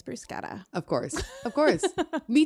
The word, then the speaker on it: bruschetta: And for me to not have realized that, because I'm one of those boring people who always corrects other people when they say bruschetta. It's bruschetta.